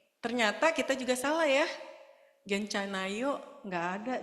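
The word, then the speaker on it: 괜찮아요: ke halaman sebelumnya tadi Nah bacanya gencan gencana he a-nya itu kayak kalau orang Singapura itu pakai lah Oke pakai no ya begitu juga jadi bilangnya cuman genc gitu bukan guen dan juga ada a-nya ya di situ Ini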